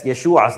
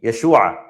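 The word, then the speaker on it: ישוע: So, on the left, that's Yeshua's name. Yeshua, right? Yeshua. We drag out, remember, drag out that a sound. Yeshua. Yesu, right? Whereas salvation is Yeshua.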